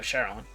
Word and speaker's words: Sharon: I honestly forgot it's pronounced Karen or Sharon. I think it's Karen? No, Sharon.